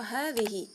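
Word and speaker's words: هذه: Yang pertama, kita akan mempelajari tentang isim isyarah hadhihi, yaitu bentuk muannas dari hadza. Hadhihi diucapkan dengan memanjangkan huruf haknya ya, tetapi dalam penulisan baik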